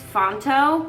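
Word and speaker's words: Phonto: So, this is Fontto. P H O N T O I believe it's spelled.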